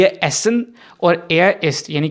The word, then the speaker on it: essen: ISST जो है east, इसका मतलब है खाना, क्योंकि ये वर्ब है एसन, एसन है, एहसन नहीं एसन, ESSEN, ठीक है।